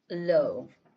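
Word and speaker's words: לא: Lamemed and olive. L is a Mayan and silent letter. Yes. Low would be no.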